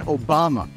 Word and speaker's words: Obama: Barack Hussein Obama is his name. His middle name is the last name of Iraq's former tyrant. His last name rhymes with Osama.